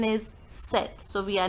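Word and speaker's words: sept: thing in number seven we don't pronounce this P we never say except the pronunciation is set so we are not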